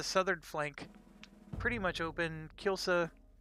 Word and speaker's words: Kielce: Kielce is coming up. Now, I'm pronouncing it that way because that's what the little general dude did when he was explaining the mission. I would have called this Kielce, but I can learn, I promise.